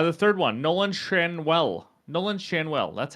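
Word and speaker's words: Nolan Schanuel: William contras uh the third one Nolan shanwell Nolan shanwell that's how you pronounce it of the Los Angeles Angels this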